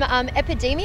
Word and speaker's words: Epidemia: Your most recent album, Epidemia, am I pronouncing that right?